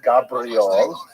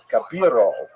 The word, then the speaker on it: Gabirol: 30 years now, and I always pronounced our subject's name wrong until about 3 weeks ago. when someone pointed out to me, it's not even Gabriel, it's even Gabirol or Gabirol. I put the I in the wrong place.